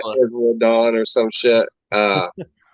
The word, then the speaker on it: Isla: Isla with the L silent. Yeah. Who knows? You mean the S? Yeah, the S is silent.